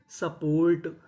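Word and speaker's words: support: एस यू इसे पढ़ेंगे सा। डबल पी पी हमारा दो बार है पढ़ेंगे एक बार। तो मीनिंग बनी सपोर्ट सपोर्ट।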